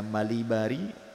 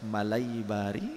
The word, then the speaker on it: Malibari: Ada yang membacanya Malibari, ada yang membacanya Malaibari gitu.